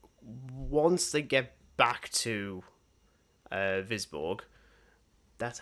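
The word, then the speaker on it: Wisborg: Once they get back to Visborg, that's how you pronounce it.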